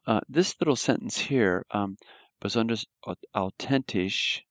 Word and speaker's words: authentisch: Now, this little sentence here, besonders authentisch. Remember the TH is pronounced like a T.